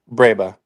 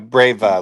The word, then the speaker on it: breba: Breba. Breba. Breba, and sometimes they have Breva, like with a V.